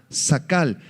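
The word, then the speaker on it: שׂכל: verso 25 es la palabra hebrea zcal con k hay acento en la segunda a sacal que significa simplemente comprender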